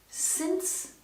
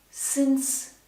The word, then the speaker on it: since: The pronunciation here is important. Since, since, since.